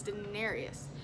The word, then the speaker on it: Daenerys: right, so don't quote me on the name pronunciation, but it's Daenerys.